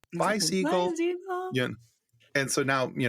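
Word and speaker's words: Bisiegel: I'm pronouncing that and I always tell them you're like you're saying bye to a seagull bye seagull seag and so now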